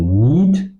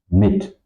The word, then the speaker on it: mit: I do not pronounce ten or meat. I pronounce tippen mit.